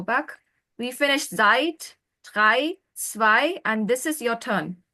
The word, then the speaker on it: zwei: How do you pronounce it? Zwei. Zwei.